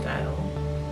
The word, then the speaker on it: Stael: And style means style. C-A-E-L, and it's a Ghanaian language called Tri, but it's still pronounced style.